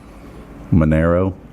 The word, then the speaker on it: Manero: Your name rhymes with money. You know what my name means in Spanish? No, but it rhymes with dinero. Big man. It's Dinero. Manero, dinero.